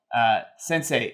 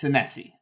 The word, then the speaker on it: Senesi: Sensei in the 13th.